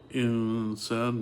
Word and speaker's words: insan: Uh and uh another example in uh uh if you look at insan for example insan means human being and there's a noun sak there and a scene after it that's also say insan and uh that's the the majority of the letters you pronounce it and uh so that's that's the thing to to uh do when you recite the Quran that's the right way to pronounce it.